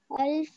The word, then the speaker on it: half: Eaten half. Half, not of half. The banana. Not half. We do not pronounce the F, the L.